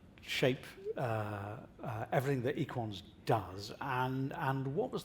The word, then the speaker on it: EQUANS: of the BU group very French so that's why uh the pronunciation is equ I was given